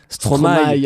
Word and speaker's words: Stromae: Et dans ton discours Stromae, tu as dit Stromaille comme les gens qui le prononcent bien commence à faire beaucoup.